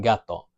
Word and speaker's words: gato: U, then it's going to be a hard G, g, like in gato.